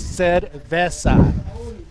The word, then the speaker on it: cerveza: Oh my, we do have another stacked heat here, and I heard upstairs make fun of my pronunciation of Cerveza. It's Cerveza.